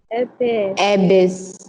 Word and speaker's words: abyss: The British pronunciation for me it is giving us abyss.